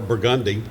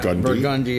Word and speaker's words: Burgundy: Or Burgundy. Yeah, Burgundy as opposed to Burgundy.